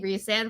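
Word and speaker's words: Rhysand: Ry sand it's not reand whatever that you know that that argument oh yeah and it's reand right it's supposedly reand but I think Ry sand sounds better rice sand yeah it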